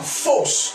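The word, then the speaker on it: phos: La lumière est encore traduite en grec comme étant fausse. Quelqu'un peut dire avec moi fausse? Fausse. Fausse. Dis avec moi fausse à nouveau. Fausse. Est-ce qu'on peut dire fausse? Ce faux s'écrit P-H-O-S.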